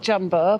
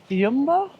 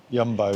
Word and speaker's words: Jumbo: When we went to Jumbo, not Jumbo, but it's actually pronounced Jumbo. Jumbo, yeah.